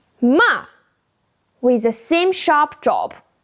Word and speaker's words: 骂: The pinyin is moa, ma. You can see the falling line above the a that marks the fourth tone. The pronunciation is start high, same as the fourth tone, then fall fast, just like we did with stop in English. Let's practice together.